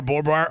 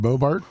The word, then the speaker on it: Boebert: Once Laura Bobart, why you say her name? Lauren Boebert.